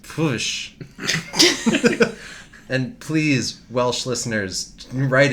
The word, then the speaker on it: Pwyll: which is spelled Pwyll, which is a Welsh name, which I believe is pronounced Pwsh.